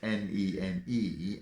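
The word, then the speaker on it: Nene: river's name is spelt n-e-n-e it flows through northampton where it's pronounced nen and through peterborough where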